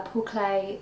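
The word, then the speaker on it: Paul Klee: Paul clay quote uh Paul clay was an artist a long long time ago I think you might have he's pronounced his name Paul clay I often say Paul clay Paul clay um he's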